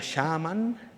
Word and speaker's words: shaman: Por cierto, chamán es una palabra muy bonita del urdu que significa, se pronuncia shaman, significa la persona que sabe o que arde en la llama del conocimiento.